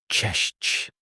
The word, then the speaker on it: cześć: In Polish, the most common greeting is cześć, pronounced cześć.